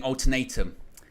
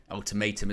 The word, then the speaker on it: ultimatum: what a snob but he was saying alternatum ultimatum isn't it you know I mean